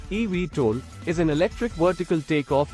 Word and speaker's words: eVTOL: times a week an evtol pronounced EV toll is an electric vertical